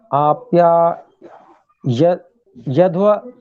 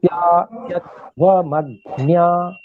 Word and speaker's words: आप्यायध्वमग्न्या: आप्या यध्व ऐसे नहीं उच्चारण करना है, य पे थोड़ा जी दबाव। जी। आप्यायध्वमग्न्या ऐसे बोले।